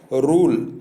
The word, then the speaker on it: rule: या यू होता है और अंतिम ई का अपना कोई उच्चारण नहीं होता है। जैसे दिया है रूल, यानी ई के पहले एल आया है, उसके पहले यू आया है, तो ये यू का उच्चारण जो है या तो ऊ होगा, बड़ी यू की मात्रा ऊ, या यू होगा।